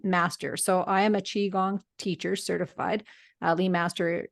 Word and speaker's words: qigong: if you want to look it up a q i g o n g and so and it's pronounced Qigong it's energy Mastery and anyone can